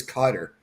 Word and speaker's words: Qatar: If I was to read it, I would pronounce it Qatar, but talking to all the Southerners in the military, it was Cutter.